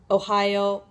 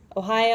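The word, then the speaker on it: おはよう: morning in japanese is ohio that's right it's pronounced just like the state so just try saying the word ohio as if you were saying hello ohio all right now you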